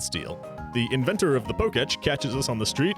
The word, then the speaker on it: Pokétch: But let's be real, the Pokétch is mostly just an item finder. Side note, I would be pronouncing this as Pokétch the whole time, because that's just what an E accent aigu sounds like, but aside from the